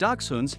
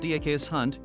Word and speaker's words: dachshund: dachshunds pronounced Diego's hunt never dachshund come in three varieties